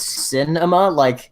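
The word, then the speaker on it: Sinemia: I found out about called Cinema, spelled with S-I-N.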